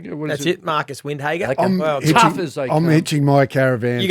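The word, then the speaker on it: Windhager: so who was it again how do you pronounce his name that's it marcus windhagen i'm matching my caravan you go next duck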